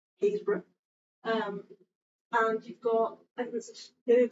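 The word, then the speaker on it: Happisburgh: But you've also got, the first evidence of humans, so footprints, down in, you'll never guess how this is pronounced if you don't know it, Haysborough.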